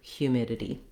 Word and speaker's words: humidity: In American English and British English, hue, humidity. So short on the hue, then we have a long mid, that's where our stress is.